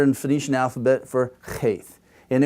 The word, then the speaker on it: cheth: And this is the letter in the Phoenician alphabet for cheth. And it was a guttural and was for the back vellum, and it was very harsh, and it had an aspirated element to it, okay?